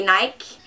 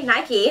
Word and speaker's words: Nike: First of all, Nike, the way I say Nike. You say Nike, I say Nike.